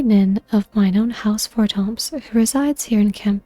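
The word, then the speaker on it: Fortemps: By the way, if you're wondering why I'm pronouncing Fortomp without the S, I don't think that French language pronounces the S.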